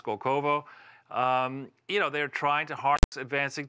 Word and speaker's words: Skolkovo: They have that complex, I guess, I forget exactly where it is, but I believe it's pronounced Skolkovo.